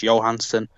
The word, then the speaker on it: Johansson: People pronounce it like Scarlett Johansson, but it's actually Swedish, so the J pronounced as a Y, so it's Johansson.